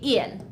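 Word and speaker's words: ils: I know that there's an S after ill, but we still just say ill. So, we read it the exact same way. Ill and ill. We don't pronounce the S.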